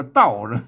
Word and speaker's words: เต้า: เก๋า เห ม อ่า ก็ อ่าน ว่า เต้า ก็ ได้ อ่าน ว่า เต้า ก็ ได้ อ่าน ว่า เต้า ก็ ได้ เออ กรณี อ่าน ว่า เต้า อ่าน ว่า เต้า เสียง โท ปกติ นะ ครับ เต้า กัน